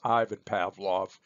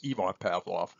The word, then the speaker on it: Ivan Pavlov: sometimes hear other folks refer to him as Ivan Pavlov and in fact you're going to see a